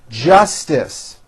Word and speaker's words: justice: of elevators was irrational Justice don't drop the middle T justice they asked the judge